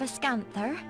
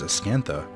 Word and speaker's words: Ascantha: Do you seek an audience with the King of Ascanther? Emmer, I think you're confused. That word says Ascantha, but you said Ascanther, which is, that's not how that's spelled. There's no E-R.